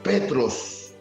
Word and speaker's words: Petros: ¿Qué significa desde el griego Petros? O se pronuncia más bien dicho en el griego. Tú eres Petros, piedra.